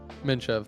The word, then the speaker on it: Minev: fragment's drummer Mike minev is that how you say your last name or pronounce it minev that's right yeah nice so how's it